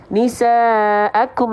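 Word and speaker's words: نساءكم: seperti ini cara bacanya Oh iya Kaf itu enggak boleh berlebihan Oh iya gitu ya Ajib ya Masyaallah ya Allahu akbar jadi jangan sampai Berlebihan nisaakum enggak cukup kum kum kum nisaakum namanya percikan enggak becek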